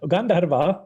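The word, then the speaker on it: Gandharvā: Yeah, Gandharva or Gandharvika, that means with a long A at the end, that means Radha.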